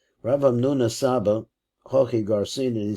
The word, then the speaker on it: Hamnuna Saba: Rav Hamnuna Saba, Hochi Garcin, and he says that's really the right way to say it.